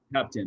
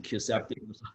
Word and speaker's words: kisspeptin: Kisspeptin, that's how you say it. I don't know what I was saying. Kiseptin, Kisspeptin.